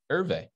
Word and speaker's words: Hervé: It's not Herve, it's Hervé. Hervé.